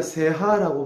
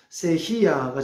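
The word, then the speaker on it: cejilla: 또 이게 스페인어로 C, 흔히 우리가 세하라고 말합니다만 세히야가 정확한 이제 발음이라고 합니다.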